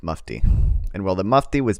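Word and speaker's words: Mufti: think it's mu I looked up how to pronounce it I should remember okay it's muy and while the muy was busy compromising the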